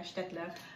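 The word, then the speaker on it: Staedtler: You get a beautiful set of Städtler. I think that's how you say it. Yeah, Städtler.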